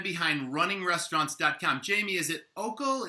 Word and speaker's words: Oikle: Jaime, is it Oikle? Is it Oikle? How do I pronounce it? Oikle. Yeah, Roger.